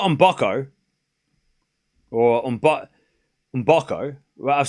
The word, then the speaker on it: Mboko: I've been saying on Boco for I think I heard her say it. I'm like I'm copying what she says cuz that's her it's her name. She would know how to say her name.